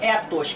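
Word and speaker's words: ἦθος: A primeira é a palavra grega ethos, com e curto, que pode ser traduzida por costume, e a segunda também se escreve ethos, porém com e longo, que significa propriedade do caráter.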